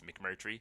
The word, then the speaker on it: McMurtery: not so drummy life its McMurtry but it's spelled phonetically so that's M I ck em you are T are EE that's nice but my last name but it is how you say it so you can find